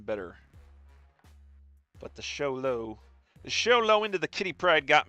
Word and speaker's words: Xolo: Sholo. Shulo. Xolo. Apparently, that's how you pronounce it according to Google.